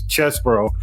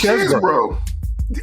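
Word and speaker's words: Chesebro: know they don't know how to pronounced his name until his his attorney said it so it's chess bro it is chess broo but see that's the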